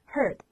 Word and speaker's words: heard: 要读成 hear 的，读成 heard， heard。